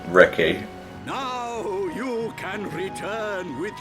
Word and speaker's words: Riki: I was giving it like an RPG inflection, like Riki. No, it's just Riki.